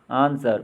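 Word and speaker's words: answer: W silent वाले words. Wrong, गलत। आंसर, उत्तर।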